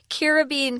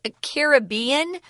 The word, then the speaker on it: Caribbean: You can also pronounce Caribbean. They're both correct. I would say it's like half and half in the States, how people say this word. I grew up with Caribbean. Me too. But then I moved back east and everyone said Caribbean, and I didn't want to stick out, so I copied their pronunciation.